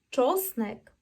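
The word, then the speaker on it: czosnek: гіперправильно - це неправильно тому ч кажемо твердо не м'яко і не супер напружуючись спробуємо чово чоснек чоловек чоло чоснек чоловек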